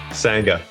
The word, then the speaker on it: Sangha: Sangha.